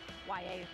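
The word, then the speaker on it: Yahya: Yes, his name is pronounced YA.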